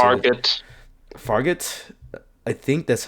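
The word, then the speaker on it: Fargeat: Fargate. I think that's how you say it because I'm gonna look it up. Farjet.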